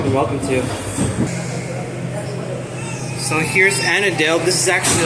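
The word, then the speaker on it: Annadale: So, here's Annadel.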